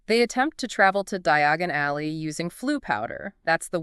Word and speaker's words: Diagon Alley: He coughs on the ash, mispronounces Diagon Alley, maybe says something like diagonally, and ends up completely lost.